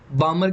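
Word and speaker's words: Balmer: ऐसे दोस्तों पाश्चन आ जाएगी, पाश्चन, आप हिंदी में दोस्तों इसको पाश्चन ही कहेंगे, बामर को बामर ही कहेंगे, बस इसमें एल साइलेंट रहता है, और लाइमन को लाइमन ही कहेंगे।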